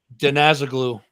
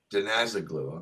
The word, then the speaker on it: Denazaglu: How'd you say that? Denazaglu. Denazaglu.